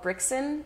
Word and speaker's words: Brixen: I was in the Italian Alps in a town called Brixen. That's the German pronunciation, and the Italian is Brassanone.